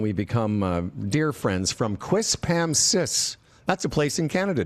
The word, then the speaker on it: Quispamsis: I can just say I've never been prouder of you pronouncing Quispamsis correctly.